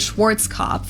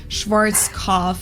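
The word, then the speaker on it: Schwarzkopf: black head Schwartz English native speakers usually pronounce it Schwarz cop or Schwarz cof or something along those lines totally what doche bank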